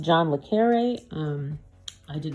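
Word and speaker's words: John le Carré: he making things right with Africa all right John le Carr this is actually pronounced John le carre um I did not realize that at the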